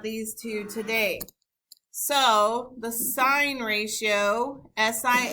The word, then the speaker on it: sin: abbreviated SI n but I don't want to hear anyone saying the sin of angle a even though the E is not there when we abbreviate we still uh pronounce it sign so sign is the